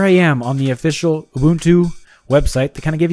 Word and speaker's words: Ubuntu: here according to this this is how you pronounce Ubuntu Ubuntu Ubuntu Ubuntu just like he said in that video